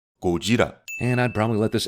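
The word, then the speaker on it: Gojira: a japanese actor and actually pronouncing godzilla by his original name kojira and i'd probably let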